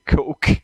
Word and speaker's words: Koch: I think it's best when you say Coke. Coke. Okay. Well, we hear you. We will stick with that. Congratulations. My wife is smiling ear to ear. Let's Just imagine the A is silent, okay?